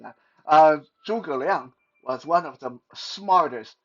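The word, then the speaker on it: 诸葛亮: the Three Kingdom period was Zhu Zhiliang. Uh, in Mandarin, Zhuge Liang. So I'm just going to say his Mandarin name because every time I say his English pronunciation, my brain almost short out because it sounds so stupid.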